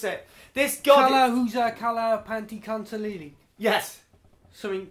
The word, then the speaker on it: Tlahuizcalpantecuhtli: Right, we can't pronounce it. This god. Kala Panti Kantalili.